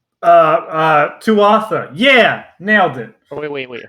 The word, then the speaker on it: Tuatha: So we're just like, Tuatha. Yeah, nailed it. Oh, wait, hold on, no, pronunciation. I think someone says Twaha. I don't think you pronounce the T.